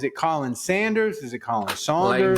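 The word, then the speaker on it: Khaleel Saunders: It says K-A-H, Callan Saunders. And his last name is Saunders because it's S-A-U, so it's Saunders. So Callan Saunders.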